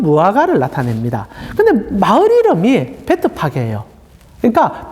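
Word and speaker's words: Bethphage: 우리말로는 벳바게 되어 있는데 원래는 베트 파게라고 부르는 게 정확한 발음입니다. 파게 혹시 들어보신 적 있습니까?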